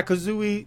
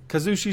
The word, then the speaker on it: Kazushi: it in his ear the correct pronunciation he's like oh yeah Kazooie Kazushi Sakuraba and then he got it right do you think that